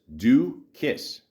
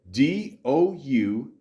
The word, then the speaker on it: Doukas: It's 6 letters, 2 syllables, do kiss. That's it. Doukas.